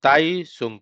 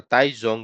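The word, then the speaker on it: Taizong: किया गया था ताई ताईसंग के द्वारा ताईजोंग बोलते हैं। ताई संग बोल देते हैं।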